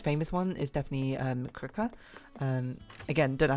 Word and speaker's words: Krka: one is definitely um crooker um again don't know how to pronounce it but it's pronounced like it's spelled krka which I think I've